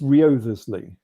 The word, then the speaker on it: Wriothesley: Well, I think the W is silent, because it's spelt with a W, but I think it's just Wriothesley, and the W is sort of silent, and you don't mention it.